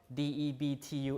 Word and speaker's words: debt: uh pronouncing the B so nowadays we pronounce it debt without the B doubt without the B